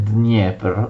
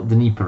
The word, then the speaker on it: Dnipro: la via d'acqua del fiume dnepr o in ucraino dniepr o dopo la sconfitta